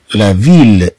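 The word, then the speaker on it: ville: ثم عندنا دوزيل أ، طبعا تنطق ل، لا فيل، لا فيل.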